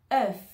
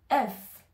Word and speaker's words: œuf: c'est le mot fœuf œuf ici on va Pr proncer comme un e français avec la langue au milieu e e et on va rajouter le F EF UF UF je